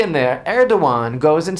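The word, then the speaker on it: Erdoğan: Turk The Turk erdan erdogan there's a g in there leave it to the Turks to put a g in there erdogan goes and says that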